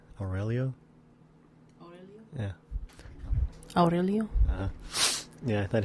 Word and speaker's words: Aurelio: Aurelio.